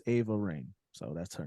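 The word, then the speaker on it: Raine: a real quick check uh it is a rain it's AA okay AA Rain but spelled with a r a r a i n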